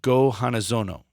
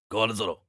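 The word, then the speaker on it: Go-Hanazono: The Emperor of Japan is a man named Go Hanazono. You gotta do the voice if you're gonna say it right. Go Hanazono.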